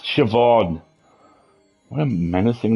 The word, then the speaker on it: Siobhan: Theoban? Siobhan. It's pronounced Siobhan.